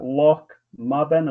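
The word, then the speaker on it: Lochmaben: Because on Saturday I was at is it Loch Maben? Is that how you pronounce it? Loch Maben, yeah.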